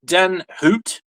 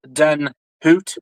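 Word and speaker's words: den Hoedt: to pronounce it, but technically it is pronounced Den Hoot, kind of like an owl.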